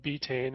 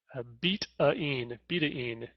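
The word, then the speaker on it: betaine: most people call it betane and recently I've read that it's it's appropriate or proper uh pronunciation is is beIN beIN uh and that was primarily because it was derived from beat and it's a it's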